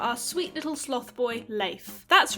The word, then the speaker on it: Leif: let's talk about our sweet little sloth boy leif that's right you heard me correctly that is how the name l-e-i-f is actually pronounced but i'm not gonna stop calling him leaf and if you keep calling him leaf i'm